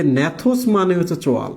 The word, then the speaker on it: gnathos: তো দেখো, এই যে ন্যাথোস মানে হচ্ছে চোয়াল, GNATHOS, ন্যাথোস বানানটা কিন্তু জি দ্বারা শুরু হয়।